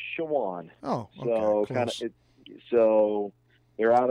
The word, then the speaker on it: Chowan: Yeah, it's pronounced Chowan.